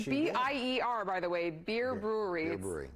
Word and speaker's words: Bier: ier by the way beer brewery do people try to say buyer or yes yeah that buyer beer and I should know it's pure don't think about too hard it's just beer beer brewery you could